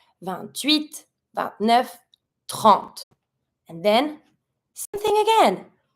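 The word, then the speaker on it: trente: I pronounce the T, but I don't pronounce the E. 30.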